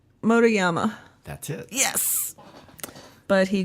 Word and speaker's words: Motoyama: So I have Loren, don't tell me I'll say it right, Motoyama.